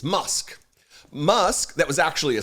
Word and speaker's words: Musk: role on Friday morning pusk excuse me he's not pus it's it's musk musk that was actually